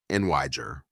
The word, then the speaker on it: Niger: The country Niger is pronounced nijer or in French ner distinctly to avoid sounding like the slur.